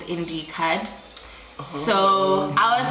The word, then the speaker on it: iindirhe: So my first name is. So that's spelled. So I just took the. Yes. Yeah. The spoken word. Yes, it is me. And then I added it there. So that's how iindirhe came through.